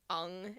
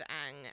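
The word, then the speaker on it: Aang: asian and authentic so instead of saying avatar it's avatar and it's un instead of ang and just everything was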